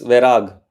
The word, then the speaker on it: Verag: Yes, Verag. Verag? That's how I pronounce it.